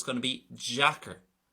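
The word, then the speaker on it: deacair: it's going to be jacker, jacker. So it's almost like a J pronunciation, a slurred, soft version because of the type of vowel that's on the letter D.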